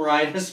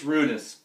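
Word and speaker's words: Rynnas: to go yussi and I keep calling him rhus because I'm sorry that's the way it's spelled but apparently it's rudus uh Gunnerson goes in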